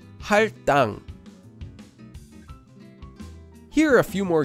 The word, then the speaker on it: 할당: So the base consonant, digat, becomes a double consonant, and the word becomes pronounced as 할당.